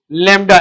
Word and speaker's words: lambda: लैम्डा LEMDA। मेरा बेटा इसको लैम्डा प्रोनाउंस कर दे LEMDA।